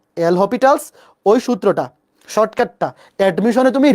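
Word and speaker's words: L'Hôpital: অনেকে তো পড়ে বলছো, এল হসপিটালস, বা আমরা এটাকে লা হসপিটালও বলি। এটার উচ্চারণ এল হসপিটালস বা এল হসপিটাল।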